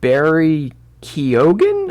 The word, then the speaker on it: Barry Keoghan: explore this character i'm not really familiar with barry keoghan i think that's how you say his name